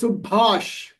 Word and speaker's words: Subhash: It is Subhash. Bhash. Subhash. Yeah. More stress on the second ba.